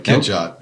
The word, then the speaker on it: Catchot: Now, have I pronounced that right? Yeah, that's right. Catchot.